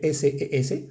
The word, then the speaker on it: ses: Y se, que se escribe S-E-S, ses.